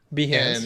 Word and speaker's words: Behance: Some How do you pronounce this? Behance, Behance.